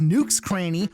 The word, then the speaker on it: Nook's Cranny: but listen you dummy his store is actually pronounced nukes cranny which is just a play on the words